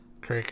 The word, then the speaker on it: creek: end of the hallway how do you say creek creek um yeah like i don't yeah crick is a thing great but i think that's just really throwing the accent on it this should be a